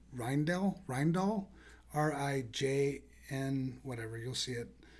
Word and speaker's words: Rijndael: And then AES with the advanced encryption standard, which I always get the name pronounced incorrectly. It's Rijndael, RIJN, whatever, you'll see it.